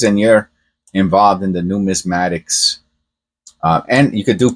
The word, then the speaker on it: numismatics: it probably took me a whole year numatics numismatics learn how to pronounce practice here let's watch it together I